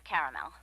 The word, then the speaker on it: caramel: Periwinkle, loaded, or caramel? The caramel, please. The what? I'd like it in caramel. Oh, the caramel? Yeah, that's what I said, Tina. Actually, you said caramel when it's pronounced caramel.